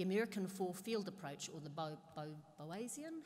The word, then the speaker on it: Boasian: Malinowskian, and the American four-field approach, or the Bowesian, how do you say it? Bowesian approach.